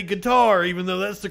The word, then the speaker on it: Qatar: don't want to be a snob and say guitar even though that's the correct pronunciation of the people that live there I'm gonna say it like a Texas Oil Man cutter yeah I always wondered because I always said